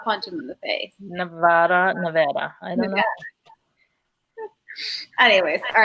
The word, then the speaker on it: Nevada: Speaking of state names, how do you say Nevada? Just Nevada. Is it Nevada or do you say Yeah. Nevada? Because I know people who say I say Nevada. You want to punch them in the face. Nevada.